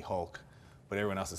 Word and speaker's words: Hulk: for my power but in Portuguese H is R so it's spelled with R so a lot of the people that speak Portuguese in Portuguese we'll call me Hulk but everyone else is